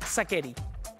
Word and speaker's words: Sacheri: cosas es serio es sakeri mira en realidad es aquel está bueno que lo preguntes porque es un apellido italiano y y la ch se pronuncia como una q pero aquí en Argentina